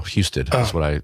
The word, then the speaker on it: Husted: Husted. That's the way I pronounce it. Husted. Like Houston without the O.